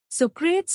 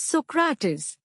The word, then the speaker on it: Socrates: Know thyself, one day he told us, Socrates is not the right pronunciation. The right pronunciation is Socrates. We were all taken by surprise because this is indeed the right pronunciation in Greek, Socrates.